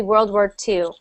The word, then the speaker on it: World War II: But when it's spelled like that with the Roman numerals, so that little one there, it's actually pronounced, well, it's actually said World War I. And sometimes you'll see it with two of them, and that will be World War II.